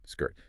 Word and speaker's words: skirt: Skirt. Two sounds together.